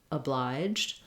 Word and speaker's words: obliged: Letter O is going to sound like because it's unstressed, it has a reduced vowel, it's vowel schwa in this word. Generally speaking, if you start with a stressed syllable, it's going to help you get that correct.